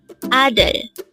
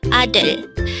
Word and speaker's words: 아들: ADEUL. Again, it's ADEUL. This is pronounced as a two-syllable word. The first syllable is A, second syllable is DEUL.